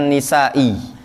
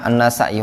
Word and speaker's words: an-Nasa'i: dikenal I wanna say Nasa'i sebagian membacanya nisa'i namun kongo alam yang lebih terlebih tepat nampaknya an-nasa'i Walaupun sebagian mengatakan disebut